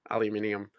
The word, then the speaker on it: aluminium: That like the aluminum ones. Yeah. Jeez. Oh, actually, yeah. Get the Americans say aluminum or aluminium. Aluminium. Aluminium.